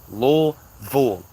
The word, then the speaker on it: Louisville: Lville.